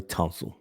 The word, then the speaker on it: Tonsel: You You keep calling them tonsil. I can't let you keep going on like this. I said tonsil. You said tonsil. No, no, no, no. If if I did, I just mispronounced it. I I know his name. So, Laramie Tonsel.